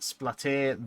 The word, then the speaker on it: Splaté: It's pronounced Splaté the Ratte, as in chicken pate.